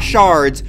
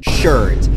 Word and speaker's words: sherds: Look at the name, it says sherds. Not shards, sherds.